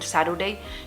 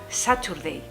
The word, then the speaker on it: Saturday: que había estudiado era Saturday, con la T, porque el inglés británico pronuncian la T. Aquí en Estados Unidos la T no la pronuncian, se convierte en una D, una R muy suave.